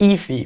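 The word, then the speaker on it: Aoife: Je peux vous dire Ify. Ouais, on dirait pas, mais c'est Ify.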